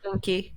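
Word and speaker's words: Enki: group that referred to, I believe it's Anki or Inky or how you pronounce the name. It's Inky. Inky.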